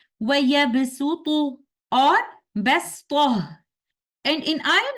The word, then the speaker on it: وَيَبْسُطُ: So in these ayat, Suratul Baqarah or Suratul Araf, we must pronounce letter Sin instead of letter Sad in the recitation of Hafs and Aasim tariqatu Shatibiya. So we will recite these words like this. وَيَبْسُطُ or بَسْطُهُ.